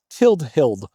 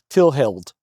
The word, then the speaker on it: Tillhild: So, she's now Tilled Hild. Um, you know, and the more I'm pronouncing that out loud, I think I'm going to drop that middle D and she's going to just be Tillhild.